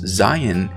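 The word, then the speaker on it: זין: then we've got the zion right zion now the seventh letter of the hebrew aleph bet it's really interesting one way that's easy to remember this one is zion sounds a lot like zion okay and so that's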